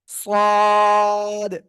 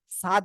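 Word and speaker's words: صاد: করে এটা কি অক্ষর সদ একটু মোটা আওয়াজ হবে সদ ছাদ বলবেন না যেন বাড়ির ছাদ যেন কেউ বলবেন না হ্যাঁ সদ সদ সবাই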